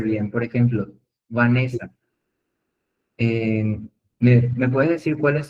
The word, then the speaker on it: Vanessa: que se entienda Vanessa, ¿dónde dónde está la sílaba tónica? Ahí en el en el va. Entonces vamos a pronunciar Vanessa y Vanessa ¿Cuál es el correcto? ¿Cuál va a ser el correcto? Vanessa. Sí, exactamente. ¿Y cuál va a ser entonces la sílaba tónica de la pronunciación correcta de Vanessa? va a ser la ne va.